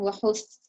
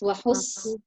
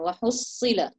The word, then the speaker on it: وحصل: Why are you saying wahus? It's wahus. So close your teeth and let the air come through your teeth like a whistling sound. Wahussila.